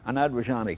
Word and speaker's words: Anand Rajani: But let's meet the owner of this car, Anand Rajani.